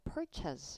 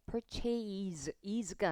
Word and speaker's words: purchase: 이 A의 발음 기호는 이렇게 표기됩니다. Apple이랑 똑같아요. 그래서 읽으실 때 A가 아니거든요. purchas 이렇게 읽으셔야 돼요. purchase is가 아니고요.